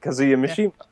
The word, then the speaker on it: Kazuya Mishima: Is to You said it right, Kazuya Mishima.